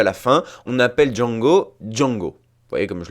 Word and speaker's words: Django: En effet, lorsque Django se présente en version originale, il épelle son nom, D-J-A-N-G-O, puis précise « The D is silent ». Le D est muet.